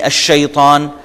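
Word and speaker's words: الشيطان: الف لام آتے ہوئے لام سائلنٹ ہو جائے گا، اور جو ہی ہم بول رہے ہوں گے تو لام کو ہم پروناؤنس نہیں کریں گے، جیسے میں نے آپ کو مثالیں دے دیں، الشیطان، الرجیم، الدین۔ دوسرے حروف ہم ان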